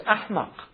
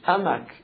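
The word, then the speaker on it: أحمق: And that's why it's ahmaq. You know the expression run amok? It comes from Malay language. Amak is ahmaq in Malay. Because the Malays can't pronounce the ha. So they say amak.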